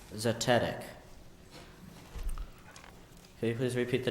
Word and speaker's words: zetetic: by inquiry zetetic zic are there any alternate pronunciations I have just the one zetetic can you please repeat the definition proceeding by inquiry can I please have the language of origin Greek zetetic can you please use